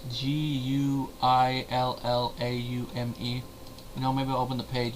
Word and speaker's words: Guillaume: Ernie Sabella, Rowan Atkinson, Robert Guillaume. It's Guillaume.